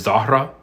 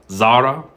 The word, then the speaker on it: Zahra: Zahra or zahar or sorry I'm I pronounced this H but it's the hes are never pronounced it's supposed to be Zara or Zar it kind of like extends extends it but it's supposed to be entirely silent and an alternative that